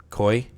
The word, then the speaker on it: Koi: And, how do you say his son's name? Koi. Yep. His full name is Sequoia, like the tree.